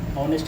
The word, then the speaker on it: honest: अगर एच यहाँ साइलेंट होता, ऑनेस्ट की तरह, HONEST, ऑनेस्ट, ऑनेस्ट की तरह अगर एच साइलेंट होता तो हम यहाँ पे